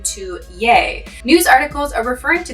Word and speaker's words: Ye: word in the bible the pronunciation in old texts like the bible is ye but kanye uses it as yea quite interesting but this